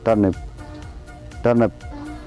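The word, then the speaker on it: turnip: में टर्निप कहते हैं, टर्निप। क्योंकि आई जो है इसको आप साइलेंट ही समझ लें, इसको टर्निप बोलेंगे।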